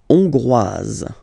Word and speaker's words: hongroise: La Hongrie, hongrois, hongroise. OK? Hongrois, grois, hongroise. OK? So here, final S not pronounced for the masculine form. And then you pronounce it here for the feminine form.